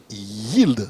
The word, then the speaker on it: Yeeld: En tout cas, merci d'être là pour nous expliquer donc ce qu'est Yield. C'est déjà comme ça qu'on prononce. Absolument.